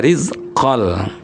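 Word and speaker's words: رِزْقًا لَّكُمْ: Kebetulan ini ada lam rizqon itu digabung ke huruf lam bacanya rizqol. Dengung tidak?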